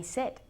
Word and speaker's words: said: Es un sonido vocal muy, muy corto.